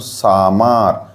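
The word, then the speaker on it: summer: এবং সামার, এখানে ইউর উচ্চারণ আ, কারণ সি, এস হচ্ছে সি, ভি হচ্ছে ভাওয়েল, এম হচ্ছে কনসোনেন্ট। তাহলে কনসোনেন্ট ভাওয়েল কনসোনেন্ট মানে সি ভি সি, তাহলে ইউ এর উচ্চারণ কেমন হবে? আ, ওই জন্য সামার।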